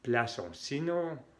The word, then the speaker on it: plaçons: La cédille hace que la C se pronuncia tal como una S. et non comme on a C qui a C. Nous plaçons. Sinon habría la CD, sería nous plaquons.